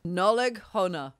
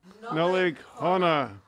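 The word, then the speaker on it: Nollaig Shona: Pronounce this Nollaig Hona. Nollaig Hona.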